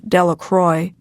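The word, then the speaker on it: Delacroix: jones and dickie delaqua the villagers pronounced his name de la croix eventually made a great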